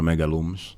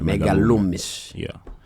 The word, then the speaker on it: Megalumes: Profissionalmente conhecido por Megalumes. Ok. Comecei a minha carreira. Megalumes. Ok. Você costuma chamar Megalume? Eu pronuncio Megalume. Não. É Megalumes.